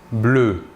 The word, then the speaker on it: bleus: masculin pluriel deux papillons bleus papillon est bien ici masculin pluriel nous ajouterons donc un ace marque du pluriel à l'adjectif de couleur bleue le s final ne se prononcent pas maintenant un est l'adjectif